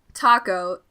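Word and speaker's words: Taako: Kravitz being white um taco I mean his name is spelled ta keo but it's like taco a lot of people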